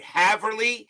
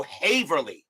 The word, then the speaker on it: Haverly: Haverly, as in have, or Haverly? How you pronounce that there? As in hay. Long A, so Haverly.